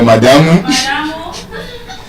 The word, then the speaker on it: madam: madam or madamu So, it's not madam. It's madam. It's a bisyllabic noun. It should be stressed on the first syllable.